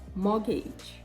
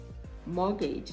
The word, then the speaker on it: mortgage: whistle whistle no whistle mortgage mortgage no more gauge right you see the t is there it is obvious to the eyes but it is silent mortgage mortgage chestnut chestnut